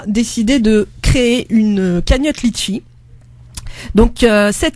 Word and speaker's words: Leetchi: de créer une cagnotte litchi donc cette cagnotte litchi lee vous tapez donc sur sur le moteur de recherche sur internet leetchi ça s'écrit elle 2e tch y voilà vous tapez litchi et